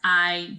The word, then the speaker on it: hay: So the word I right here, H is silent in Spanish. It's not hey or hi, right? The word I means there is or there are. So you could say like, hay 10 velas en el pastel.